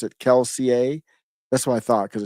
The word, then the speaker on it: Kelsier: of his history here it's per oh it's pronounced keler okay so it's keler kills it comes from some type of Brandon sanser sanson's mistborn series I'm not familiar with that some fans pronounce it keler that's what I thought because it's French but